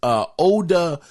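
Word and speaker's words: Odah: And by the way, his name is Oda Fields. It's spelled O-D-A-H Field.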